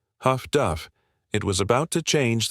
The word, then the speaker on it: HF/DF: Sailors, unable to pronounce it amid the chaos of battle, shortened it affectionately. Huff-Duff.